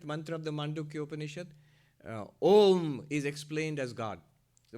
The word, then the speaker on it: Om: So the first one is A, the second one is U, the last one, deep sleep world, is Ma. You pronounce it together, Om.